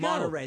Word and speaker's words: Monterey: Monterey.